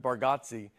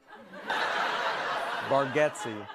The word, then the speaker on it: Bargatze: I told you I think you say our last name correct with Barati and I think we say it wrong as a family. Baretti for years I've been calling you Nate Barati.